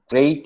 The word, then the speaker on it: great: Watch out for meat and great and fret. They rhyme with sweet and straight and debt.